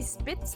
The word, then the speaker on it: Spitz: We don't say Spitz like that. We say Spitz with a sh. Oh, Spitz. Yeah. Ah. That's like at least the German pronunciation.